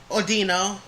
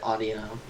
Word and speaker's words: Audino: Ordino. Well, that's another way to pronounce it. Some people pronounce it like that. Okay, In fact, I think the anime pronounces it Audino.